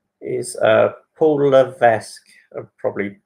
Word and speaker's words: Levesque: Question 4 is Paul Levesque. I've probably butchered that name a little bit.